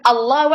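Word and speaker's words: الله: Tengah, ya, mereka mengucapkan Allahu Akbar, Allahu Akbar, Allah, A. A cuman lamnya tuh kan double. Nah, pengucapan lam double ini yang kesusahan orang Indonesia.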